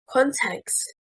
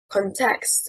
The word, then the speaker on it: context: Context, stressing on the first syllable, means circumstances. Context, stressing on the second syllable, is incorrect.